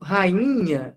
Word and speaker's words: rainha: cortar meu nariz hein Por que que o ruído rainha é nasal porque esse som do n ele nasalizou o i e o que que